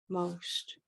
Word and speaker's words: most: most most most ammo most it's only one syllable Rose bolt Rose Boat oh yeah it is